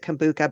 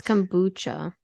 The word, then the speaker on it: kombucha: New York and loves I pronounce it Kuka but I'm pretty sure it's supposed to be kombucha it's kombucha yeah we all know how